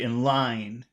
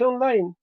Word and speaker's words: in line: word but not here this is going to be an exception this will be in line in line line in line line are there any other important words in that phrase in line it's online you know some people some people say online and I hate hate that but some people say it and there's nothing I can do about it but for me it's in line and I'll never say